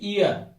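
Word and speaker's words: year: ये लिखा है ईयर। क्या आ रहा है? इ से स्टार्ट हो रहा है।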